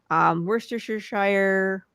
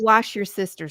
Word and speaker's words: Worcestershire: cider vinegar, brown sugar, Worcestershire. Yeah, I said it right. I never knew how to say it right in my entire life. Not wash your sister sauce.